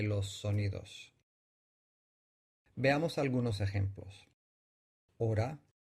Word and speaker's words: ahora: sonidos veamos algunos ejemplos ahora y oro ahora tiene 4 grafemas pero la h no se pronuncia y coge en estas